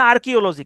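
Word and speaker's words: archaeology: মোডেশন ঠিক আছে ওকে আর্কিওলজি উচ্চারণটা হচ্ছে আর্কিওলজি কিন্তু বানানটা কিন্তু একটু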